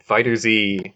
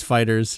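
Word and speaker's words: FighterZ: Despo Fighter Z is a manga about games. It's about Fighter Z, and... Hold on. It's Fighters. You pronounce it Fighters.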